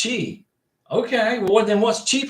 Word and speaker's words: Twi: passport uh you got it Jason T twice pronounced Chi okay what then what's Chi pronounced if Chi